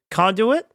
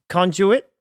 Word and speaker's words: conduit: It's got a British pronunciation and an American pronunciation. Conduit is American. Conduit. Conduit is a British pronunciation.